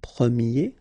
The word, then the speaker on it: premier: about the masculine form, you pronounce it premier, okay? Premier. And then for the feminine form, you will get première, okay? So it's open, this e sound.